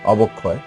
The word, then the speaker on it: অবক্ষয়: যেমন সুদক্ষ, এখানে দয়ের সাথে একটি অ আছে, এরপরে ক্ষীয় আছে, এই জন্য দয়ের অটা ও এর মতো উচ্চারণ হয়েছে। অবক্ষয়, বয়ের সাথে একটি অ আছে, ও এর পরে ক্ষীয় আছে, এই জন্য এই বয়ের অটা ও এর মতো উচ্চারণ হয়েছে।